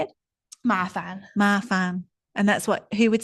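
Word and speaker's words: 麻烦: Mafan.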